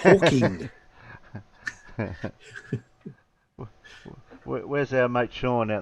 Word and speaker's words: Hawking: It's not Stephen Hawkins. It's Hawking.